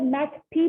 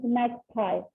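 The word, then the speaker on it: magpie: This is, हम इसको मैक्पी भी प्रोनाउंस कर सकते हैं एंड मैगपाई भी प्रोनाउंस कर सकते हैं. तो मैगपाई जरा ज्यादा डिसेंट लगता है, इसीलिए इट इज मैगपाई.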